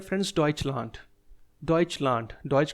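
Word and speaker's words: Deutschland: और जर्मनी को बोलते हैं फ्रेंड्स डइच लैंड।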